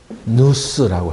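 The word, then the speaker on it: νοῦς: 그래서 이 마음이라는 것은 헬라어로는 이제 누스라고 해요. 그렇게 발음해요.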